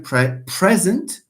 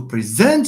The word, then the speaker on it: present: the rule says that if you have a verb, my friend, stress the second syllable. So you can say, I am present, because present is not a verb.